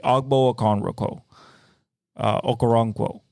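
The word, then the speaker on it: Ogbo Okoronkwo: a no a conro a conro Koo sorry agbo okono okaro basically is how you say it um Denzel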